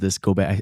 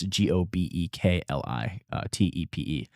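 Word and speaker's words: Göbekli Tepe: And I found Gobek. I butchered the name of it, but it's Gobekli Tepe.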